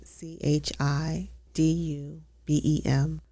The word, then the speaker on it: Chidubem: c h i The d u, you pronounce it d o, do.